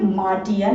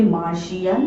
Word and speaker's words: Martian: Friends, ये मार्टियन नहीं है, ये मार्शियन नहीं है, इसको हम लोग बोलते हैं मार्शियन। अभी तो मैंने बोला कि